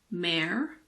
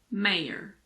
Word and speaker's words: mayor: It's also often silent in mare. But there are some people who pronounce it, particularly Americans. Some Americans say mare, mare, so it's silent. And some Americans pronounce it. They say mayor, mayor.